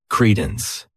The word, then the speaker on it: credence: This word has 2 syllables, and the stress is on that first syllable. Credence.